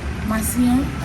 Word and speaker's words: Macillon: How do you pronounce the name? Macillon.